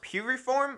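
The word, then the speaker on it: Piriform: I started out calling the company Preform, and I think it's pronounced Puriform or something like that.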